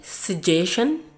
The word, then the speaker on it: suggestion: Okay, one thing you have to know here is kata yang berakhiran dengan tion itu bacanya shen. Makanya kenapa dari awal tuh selalu berakhir dengan shen.